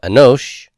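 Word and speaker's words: אֱנוֹשׁ: is an OSHA Anoush the accent is on the O of Anoush notice the salute here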